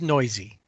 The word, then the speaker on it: Neuse: And up until, in fact, if not for his brother, we wouldn't really know how to say his last name. And his name is Noisy, Neuse.